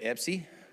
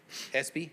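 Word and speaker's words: Espy: So I do have one card from uh Epsy. Where is it? Espie. I'm sorry. It's ESP. It's like the award, but it's spelled just There you go.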